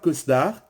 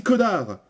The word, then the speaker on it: Cosnard: On dit pas Cosdar, on dit connard. Comme par exemple on dit Doménil, Rodi Sous-Bois, le Chédé. On ne prononce jamais le S.